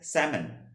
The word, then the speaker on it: salmon: ঠিক আছে, আমেরিকান ইংলিশে এই উচ্চারণটা হবে হচ্ছে স্যামন, উচ্চারণটা হবে স্যামন।